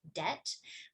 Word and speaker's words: debt: Okay, so debt was always pronounced debt, but the B was added in so that it might look like the Latin debere, right? Like in Portuguese, dever, right? To owe money. But it was never, ever pronounced.